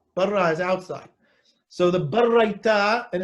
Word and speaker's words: baraita: So the barraita, and it's not a brisa, it's barraita. That's how you're supposed to pronounce it.